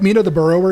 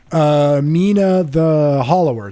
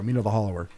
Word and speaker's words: Mina the Hollower: Or not the Burrower, sorry, not Mina the Burrower. Why do I keep getting the name wrong? Mina the Hollower. There we go. Mina the Hollower. You burrow in the game. I keep thinking it's a burrower.